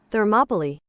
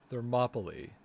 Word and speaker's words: Thermopylae: Thermopylae. Thermopylae.